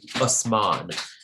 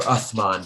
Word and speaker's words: Uthman: the caliphs a guy named osman um or uthman depending on what which pronunciation you use um he said this